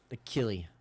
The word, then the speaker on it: Akili: Akili Smith, or Akili Smith, however you want to pronounce it. Akili. That's how I'd say it. They should have just known with the name Achilles, basically.